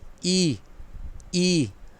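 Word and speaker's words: 一: ये प्रोनाउंस करेगा ई।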